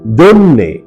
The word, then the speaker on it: জন্যে: সঠিক এবং শুদ্ধ উচ্চারণ হল জন্যে বর্গীয় জ এর সাথে অকারান্ত উচ্চারণ এবং দন্ত ন এর নিচে হসন্ত দিয়ে উচ্চারণ করতে হয় জন্যে জন্যে 31 মূল শব্দ